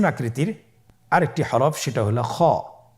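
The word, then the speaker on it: خ: কিভাবে উচ্চারণ করতে হবে খ হরফটির মাখরাজ হল কন্ঠনালীর শেষ ভাগ হতে উচ্চারণ করতে হয়। কন্ঠনালীর শেষ ভাগ আপনারা আমার সাথে বলুন খ আবার বলুন খ মাশাল্লাহ আমরা তিনটি একই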